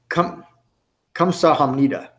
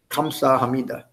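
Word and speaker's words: 감사합니다: in it it's pronounced come Siham Nita it's spelled with a G but that first letter is really a hard K and a soft G kind of put together come saw Hamidah come so how many does 8:00 a.m.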